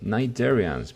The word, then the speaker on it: cnidarians: Cnidarians. Mirad cómo se escribe. Esta C no suena y se dice cnidarians.